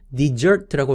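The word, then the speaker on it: dessert: 디저트는 desert라고 발음하지만 사막은 desert라고 앞에 강세를 주어서 발음합니다.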